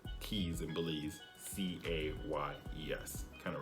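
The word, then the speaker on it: cayes: They're called keys, like the Florida Keys. But it's not spelled keys like car keys, like K-E-Y-S. It's spelled C-A-Y-E-S.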